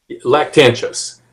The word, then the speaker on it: Lactantius: Can you pronounce it? I can't hear you. Lactantius.